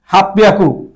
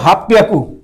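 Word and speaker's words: はっぴゃく: 800 দেখেন 8 × 100, তাহলে হাঁচি হিয়াকু হওয়ার কথা ছিল, কিন্তু এটা ব্যতিক্রম রাখছে, ওরা বলতেছে হাফ পিয়াকু, হাফ পিয়াকু, মানে হচ্ছে এই সে P double P পিয়াকু, হাফ পিয়াকু, হাফ পিয়াকু উচ্চারণ হয়েছে, ঠিক আছে।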